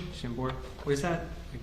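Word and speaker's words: Chambord: Shambbor. Shambbor.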